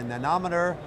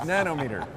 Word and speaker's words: nanometer: That's right, that's nanometer. Nanometer. Nanometer. Nanometer. That's right. I want to get a nanometer. I just had my syllable on the wrong syllable.